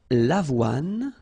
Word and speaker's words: avoine: L'avoine, le blé, le maïs, le millet. So let's repeat them. L'avoine, remember, don't insist on the final E.